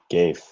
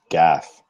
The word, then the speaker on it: GAFE: you make a mistake it's not pronounced gave it's pronounced Gaff isn't spelled the same way like come on